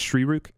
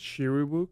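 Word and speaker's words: Shyriiwook: All right, so Wookiee, this is not the official question, but it's Shrirook. Am I pronouncing that right? I think it's Shiriwook. Shrirook?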